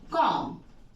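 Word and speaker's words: comb: बोलते हैं हम लोग इसको बोलते हैं कॉम हम लोग इसे कॉम बोलते हैं बी साले है क्योंकि एम के बाद बी का इस्तेमाल किया गया है तो बी साइलेंट है सो रूल्स रिगार्डिंग दिस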